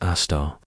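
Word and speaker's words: Sagittarius A*: Our own Milky Way galaxy, the cosmic home we inhabit, has a super massive black hole at its center known as Sagittarius A, pronounced Aar.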